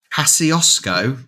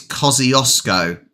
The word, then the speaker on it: Kosciuszko: Kosciuszko? No, that's not how you pronounce it. Kosciuszko. It's got to be because an SZ is sh.